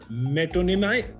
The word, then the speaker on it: metonymy: सिद्धांत ने कहा है alliteration, अनामिका ने कहा है metonymy.